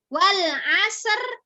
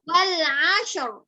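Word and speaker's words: Wal 'Asr: Wal asr itu salah benar. Wal asr salah benar. Saya bacanya. Salah. Salah. Kenapa? Roknya harusnya tebal. Ya, roknya tebal. Seharusnya wal ashr. Ya, wal ashr.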